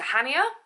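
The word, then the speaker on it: Chania: Going to Hania, I think that's how you pronounce it, you don't pronounce the C.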